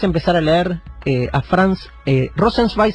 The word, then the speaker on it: Rosenzweig: Rosenzweig se escribe R-O-S-E-N, Rosen, Z-W-E-I-G, Rosenzweig sería, así literal.